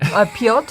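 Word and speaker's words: Piotr: Pot is actually how you say it in Polish.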